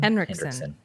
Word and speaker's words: Henriksen: How do you pronounce his last name? Henriksen. Hendrickson.